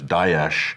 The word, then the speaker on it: Daesh: There's Daesh, which is more accurate. That's the Arabic one.